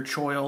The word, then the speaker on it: choil: nice little ricasso finger choil or coil depending on how you want to pronounce that nice thumb groove fits